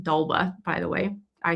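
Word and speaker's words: d'Alba: They have a lot of good products, but this is pronounced Dalba, by the way.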